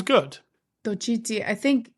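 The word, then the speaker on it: Xochitl: It begins with an X, so it's very hard. I think it's Tochiti Gomez. That sounds good. Tochiti.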